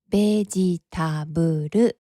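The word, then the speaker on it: ベジタブル: 英語では vegetable と発音しますが、日本語ではベジタブルとすべての母音あ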